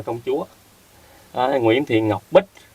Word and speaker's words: Công Chúa: Công Chúa chữ này đọc thì là Chúa hoặc Chủ, nhưng mà trong lúc này đọc là Công Chúa Đó!